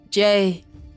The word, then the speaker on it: Jye: Jay, that's my name. It's Jay. That's how you pronounce it. I know it's weird. I know it's weird. I get it. If you pronounce it the first time, I understand. But it's Jay.